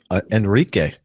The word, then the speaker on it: Enrique: appreciate it and uh Enrique uh writes in I think that's the way you pronounce e n r i quu is that right Rick you got it right okay I really enjoy